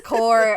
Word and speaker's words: Corps: it wrong apparently it's core it's core i guess but i've always pronounced it corpse and i was like